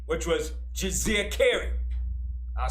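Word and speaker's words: Djeserkare: and he had a throne name which was jose cary i'll spell it it's d j e s e r k a r e that is his throne name she's a care his birth name was aman hotep a m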